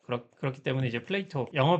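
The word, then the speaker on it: Plato: 근데 영어로 하면 N이 또 빠지고 그렇 그렇기 때문에 이제 플레이토 영어 발음으로는 뭐 미국식 영어 발음으로는 플레이토 뭐 이렇게 부르는데 어 이런 플라톤의 이름을 따 가지고 플레이토니즘이라고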